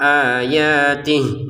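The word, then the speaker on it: آياته: Misalkan kita nggak kuat nafas, berhentinya di sini, maka ini dibacanya tidak panjang sama sekali. Contoh, kadzalika ya, kadzalika yuhyillahul mauta wa yuriikum ayatih.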